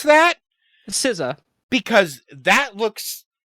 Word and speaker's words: SZA: I pronounce the way I look at SZA is the way you would pronounce like the two members of the Wu-Tang Clan. Everyone calls them RZA or GZA.